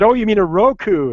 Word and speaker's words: Roku: want a Roku said Oh you mean a Roku it's like oh is that how it's pronounced so I I think I went several